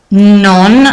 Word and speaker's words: non: Donc, deux termes en français, pardon, et un seul terme, non, attention à bien prononcer le N final, en italien.